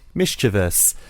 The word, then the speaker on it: mischievous: list mischievous mischievous mischievous so why I put stress on the first syllable and these two put stress on the second syllable but not only did they do that they also implied that there was an i after the V mischievous but when you actually spell the word it's actually it isn't spelled with an